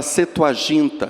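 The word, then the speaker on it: Septuaginta: escrita é a chamada setu ginta escreve-se septu mas P mudo não é pronunciado então a setu agint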